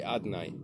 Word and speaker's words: Adonai: city, they would say Adonai. We pronounce just the vowels that are put on the name of Hashem without the consonants. The consonants we replace with Aleph, Dalet, Nun, and Yud.